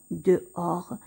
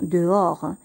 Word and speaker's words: dehors: chambre elle est dehors ici le h ne se prononcent pas le s ne se prononcent pas on va seulement prononcé des oeufs o'hare dehors on va dire dehors elle est dehors ça